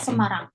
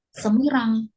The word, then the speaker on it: Semarang: tidak bisa mengarang sendiri kayak Semarang ya tidak bisa kita membacanya Semirang walaupun di sana ada kata Semirang ya karena adalah nama jadi jangan lupa untuk